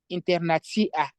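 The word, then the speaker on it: internacia: You can see the last C, and now I'm saying C, internatia.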